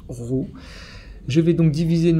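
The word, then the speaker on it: ρ: pays un peu courbé ça se prononce ro je vais donc diviser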